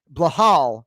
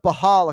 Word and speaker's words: Belal: first of all yeah pronouncing your name blahall is what he goes with most of the time he pulled up behal a couple times and then he went with right so for a